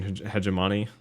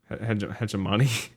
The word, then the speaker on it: hegemony: in like the Christian hegemony. Please don't say it like that. Hegemony. Hegemony. Yeah, that's better.